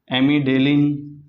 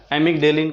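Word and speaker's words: amygdalin: एमिडेलिन, इसमें D silent होता है, एमिगडेलिन कह देते हैं, एमिगडेलिन कहा जाता है।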